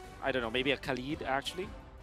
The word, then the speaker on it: Khalid: be next, or I don't know, maybe a Khalid actually. How do I say it? Hey? How do you say? Actually, my real name, it is Khalid. Khalid. Yeah. Okay, so that's how we pronounce it.